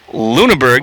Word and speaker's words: Lunneborg: Luneberg is spelled Lunneborg, but as a professional broadcaster, you got to check in and see how those names are pronounced.